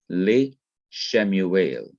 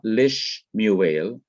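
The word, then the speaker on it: לִשְׁמוּאֵל: The second schwa remains vocal, that is, it is to be pronounced as it was before the preposition was attached. So it's not lish muel, as we might think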